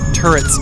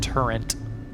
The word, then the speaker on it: turret: of the three occurrence turrets started shooting them Freudian slip it's pronounced turret not turrent right about here is